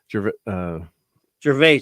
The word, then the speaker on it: Gervais: Like I don't want to hear Ricky Gervais. How do you say his last name? Gervais.